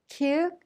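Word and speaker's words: 키읔: Kyuk is a strong K sound.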